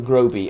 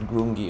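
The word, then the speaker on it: Grobi: the previous episode uh i my mispronounced uh how the um how the green skins uh how the hell dwarves call the green skins i think i said grungy or something the pillars of grungy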